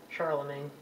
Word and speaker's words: Charlemagne: And the greatest king of the Franks was a guy named Charlemagne, or you might hear it pronounced Charlemagne. And this is just kind of a garbled version of saying Charles the Great.